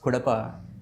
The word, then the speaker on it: Cuddapah: Kadapa is the headquarters, but the spelling is different because the Britishers used to pronounce it as Kudappa. Okay. So it made Cuddapah.